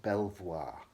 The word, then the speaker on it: Belvoir: Then away you go again to Belvoir Castle, pronounced Belvoir.